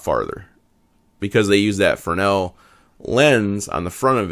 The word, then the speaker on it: Fresnel: correct prince pronunciation is fresnel i think the s is kind of silent there probably most well-known brand